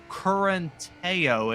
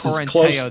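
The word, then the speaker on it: Correntaio: That is Correnteo. It is spelled Correntao. So I think that's Correnteo there.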